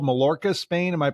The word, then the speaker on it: Mallorca: I mean, I found a dress shoe place over in, is it called Mallorca, Spain? Am I pronouncing it right? I don't know how to. Yeah. Mallorca.